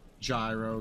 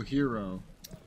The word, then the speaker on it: gyro: Because that's a way to pronounce gyro, gyro, hero. Okay, yeah. I know it as euro, though.